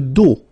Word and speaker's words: dos: Le dos, final S not pronounced, okay?